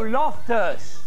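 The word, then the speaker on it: Loftus: oh oh oh what a you spell my name wrong it's l o f t us not L tell the oh lofters yes all right canuse me do you want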